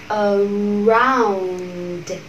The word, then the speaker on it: around: Từ này có hai âm tiết thì các bạn cũng để ý cho mình âm tiết đầu tiên không nhận trọng âm là âm ơ giản lược. Âm tiết thứ hai nhận trọng âm around. Để ý hai phụ âm đuôi phát âm hết âm rồi mình âm d.